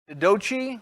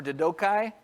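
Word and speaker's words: Diadochi: They're called the Didochi or Didokai, depending on the pronunciation.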